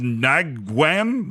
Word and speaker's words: Nguyen: It's Nguyen. like Mrs. Nguyen, like Nguyen. Nguyen. Yeah, Nguyen. All The right. G is silent.